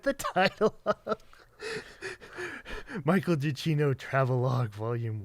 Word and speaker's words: Giacchino: oh yeah, because like it started with like just pronouncing it as it is, Giacchino. And then we heard, always hard with we heard it in an interview that it just had 2 syllables, and we're like, oh, or not 2 syllables, but like less syllables. Yeah, so less syllables, that it's just Giacchino instead of Giacchino, or whatever we pronounce it first.